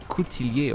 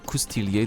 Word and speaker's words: coutilier: melee cavalry you need the coutilier or custilier depending on whether you're saying it with a new or old french pronunciation and it's kind of